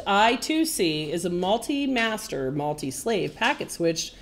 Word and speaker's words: I2C: I2C, inter-integrated circuit, pronounced I2C, is a multi-master, multi-slave, packet-switched, single-ended serial computer bus invented by Philips Semiconductor, now NXP.